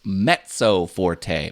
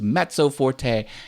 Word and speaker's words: mezzo forte: together that stands for mezzo Forte it's actually pronounced mezzo Forte met like the Mets with a T it doesn't have a T in the name but it's pronounced mezzo Forte and that means medium